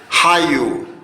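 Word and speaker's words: qallu: Chicos, esta ja, la Q en quechua se lee ja y se pronuncia fuerte, ja. Vamos a leer acá, esta letra sería hayu, hayu.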